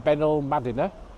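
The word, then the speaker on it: Benalmádena: are eating we're in benil madina i'm told that's a correct pronunciation on the south coast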